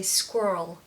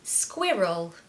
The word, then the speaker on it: squirrel: five squirrel squirrel squirrel now the American pronunciation of this I love I just I don't know why I just absolutely love how they say it they say squirrel squirrel but we say squirrel squirrel now a really